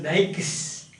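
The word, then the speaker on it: Daiches: David Digest, Rene Willock. 8. David Digest. 9. Rene Willock. David Digest. Some people pronounce this as Dykes.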